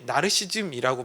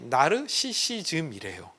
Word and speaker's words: 나르시시즘: 그래서 대부분의 가인들은 나르시시즘, 여러분 우리가 흔히 나르시즘이라고 발음하잖아요. 그래서 저도 나르시즘인 줄 알고 찾아봤더니 정확한 표현이 나르시시즘이래요.